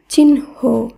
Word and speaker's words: চিহ্ন: যেমন দেখুন, চয় হস্যি হয় দন্ত ন এই শব্দটির উচ্চারণ হবে চিহ্ন।